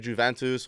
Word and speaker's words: Juventus: that that's how you say it bro you guys don't watch ball it's Juventus Juventus you're putting so much stink on Juventus what was the what